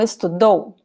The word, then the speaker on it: estudou: Ele estuda português todos os dias, mas ontem não estudou. So same rules here. Estuda, second to last syllable. Estudou, the second to last vowel.